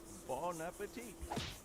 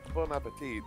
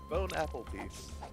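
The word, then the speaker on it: bon appétit: Yeah, I really do love when people mispronounce it, or whatever the term for it is. It's just bone apple teeth. Because it's like, it is close enough to it.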